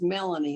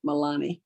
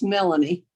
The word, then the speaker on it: Melanie: hurt your feelings um my daughter's name is melanie not milani a lot of people pronounce it that way but it's melanie thank you my husband